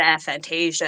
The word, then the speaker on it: aphantasia: that I'm able to do, especially with the aphantasia and everything like working around that has been an entirely different hill to jump over.